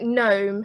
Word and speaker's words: gnome: the silent g because you know like gnome has the silent g yeah different things like